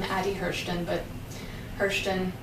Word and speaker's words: Hirschten: their systems as well or my name addi Hurston but Hurston it's a long name hir SCH TN I have to spell it out every time so it's easier to